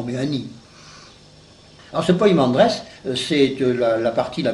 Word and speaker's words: Poimandres: P e mais enfin c'est plus facile de le prononcer avec poi P oi M a n D r e s poimandress parce que je crois